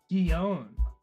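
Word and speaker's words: Gion: I have I I've got nothing pronunciation. Gon.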